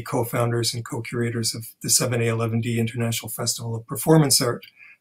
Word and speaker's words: 7A*11D: Brian mentioned that I'm one of the co-founders and co-curators of the 7A11D International Festival of Performance Art. 7A11D is spelled 7A*11D, and the asterisk is silent.